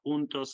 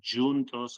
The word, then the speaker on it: juntos: Spanish and in Portuguese different pronunciation it's hos in Spanish and junos in Portuguese but the meaning is